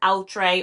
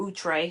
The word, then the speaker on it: Outre: It is from Outre or Outre, however you prefer to pronounce it.